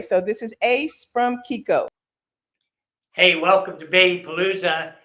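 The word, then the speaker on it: Chicco: Kiko yeah it's not Chico which it may a lot of people think it looks like but since we're an italian-owned company that CH gets a hard sound so it's pronounced Kiko so you a lot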